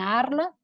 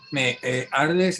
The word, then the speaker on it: Arles: Entonces, hace algunos años me dieron una beca para ser artista en residencia en Arles, ¿sí?